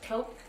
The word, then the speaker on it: Taupe: Like, not T-O-P, it's like top, like taupe it off, like that.